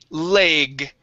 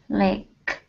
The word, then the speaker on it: leg: Okay, this word is pronounced leg. Okay, with the G sound at the end. Instead of lech, it is leg. Leg. Leg. Lake.